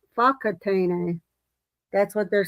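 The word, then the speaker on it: Whakatāne: that I I was calling a wakatane, but it says it's fak fakatane.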